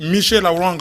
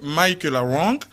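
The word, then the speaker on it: Michela Wrong: Donc en français on dit Michaela Wang, mais en anglais c'est Michaela Wang, qui a écrit d'abord en anglais Don't Disturb et en français Rwanda, Assassins sans frontières.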